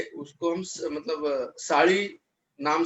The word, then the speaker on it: SALI: साड़ी, नॉट साली. हाँ सर, SALI. I know. Yes sir, it's spelled by SALI, but it's called as a साड़ी. Yeah, there's a ल in it. थोड़ा ळ का उच्चारण नहीं होता है.